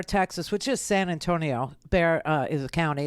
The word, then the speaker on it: Bexar: He is the sheriff of Bexar, Texas, which is San Antonio. Bexar is a county. It's spelled with an X, but the X is silent. Okay. Anyway, so Bexar County Sheriff Javier Salazar